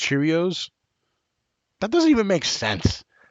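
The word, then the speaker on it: Chiraneau: we go it's pronounced Cheerios that doesn't even make sense Cheerios ch all right everybody's saying it's pronounced Cheerios like Cheerios like the cereal all right um again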